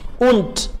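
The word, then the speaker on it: und: wagon आइन डचर wagon उंट दास और ये उंट डी आखिर पे जब आएगा तो टी प्रोनाउंस होगा और अदर वाइज डी ही प्रोनाउंस होगा उंट डास और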